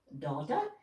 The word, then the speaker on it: data: in the scientific terminology data data and interesting work some people pronounce it daughter it means exactly the same whichever way you pronounce it it means the